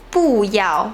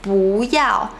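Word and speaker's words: 不要: Like we won't say 不要, we say 不要.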